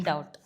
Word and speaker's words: doubt: doubt. Why B is B is silent word in doubt.